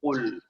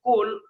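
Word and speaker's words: قل: Allah memulai ayatnya ini dengan mengatakan qul. Jadi harus benar bacanya qul, qaf. Bukan qul, tapi qul.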